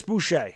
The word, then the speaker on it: Boucher: woody thank you chris boucher okay i was right the first time i said it but thank you appreciate that i figured that was a french name but lee i was